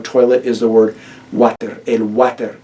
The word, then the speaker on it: water: El water. It's literally the word water, even spelled. The English word water, spelled the same, just pronounced with a Spanish accent. El water.